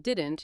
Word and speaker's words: didn't: If you're waiting to hear a clear t sound at the end of didn't, you'll usually miss it because it's often not fully pronounced.